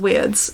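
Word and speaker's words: wyrd: mean weirds I yeah it's pronounced weirds um and it's like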